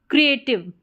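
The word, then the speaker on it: creative: क्रिएटिव यहां पर इए करके ठीक है इ ए या ई इस तरीके से या ए यह इसके प्रोनाउंसिएशन रहते हैं इ ए इ ए के मेन दो रहते हैं वैसे इसके चार या पांच प्रोनंसिएशन रहते हैं तो यहां पर इ ए वाला साउंड आ रहा है क्रिएटिव क्रिएटिव तो यहां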